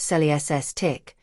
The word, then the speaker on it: Celestiq: We say at least because each Celestiq, pronounced sel-ESS-tick, will be built to the owner's exact specifications.